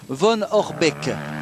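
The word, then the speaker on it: Jérémy Van Horebeek: En fait, ça se dit littéralement Von Orbeek en belge.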